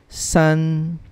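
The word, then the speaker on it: sì: the fourth tone we i'll read it as su if you notice number four i'm not reading the letter i here okay basically it's just s s number five okay if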